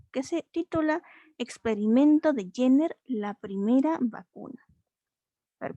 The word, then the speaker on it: Jenner: ajá, pero ahí tiene allí una pregunta, que ese nombre se pronuncia Jenner. Uh-huh. Jenner, exactamente.